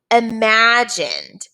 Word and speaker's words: imagine: no we don't also imagined imagine has the vowel consonant e the i n e but you don't hear the i say its name okay so you have